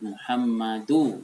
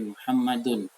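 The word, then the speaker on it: مُحَمَّدٌ: Ketika kalian disuruh membaca lengkap-lengkap, jangan salah lagi menyebut Muhammadu, itu salah, tapi Muhammadun.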